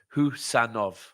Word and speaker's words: Khusanov: someone and by the way that's how we pronounce it thank you for that uh so it's who sanov J J Vinnie talking about his first game